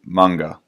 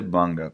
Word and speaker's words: manga: And I say manga because I think that's the way you pronounce it. A lot of people say manga, like in the Western world. I think it's manga if you were in Japan. That's how you'd probably say it properly, but if you speak